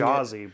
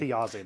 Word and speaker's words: Thiazi: Because I'm reading Thajazi, but I'm not sure. Well, sorry, I forgot how it's. Is it it's Thiazi? Thiazi, there you go. Sorry. I was fully saying the J.